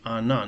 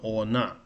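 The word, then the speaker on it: она: Here, the unstressed R refers to A. It reads Anna, not Ona.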